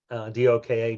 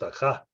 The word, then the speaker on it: Doka: Doka, D-O-K-A, Doka as we pronounce it in the United States. In Hungary, it'd be pronounced Daka.